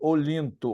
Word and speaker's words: Olyntho: @com Z, ponto, Olinto. Olinto se escreve NTHO.